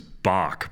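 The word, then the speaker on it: Boq: Oh, that guy's name was Bach, by the way. Bach, yeah.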